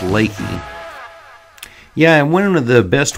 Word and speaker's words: Leakey: some really nice cabins in the town of Leakey did I say Leakey it's pronounced lately yeah one of the best ways to experience